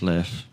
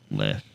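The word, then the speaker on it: Leif: le le Ericson day is it Le or Leaf Le okay it's left his name is spelled l e i f left so you want to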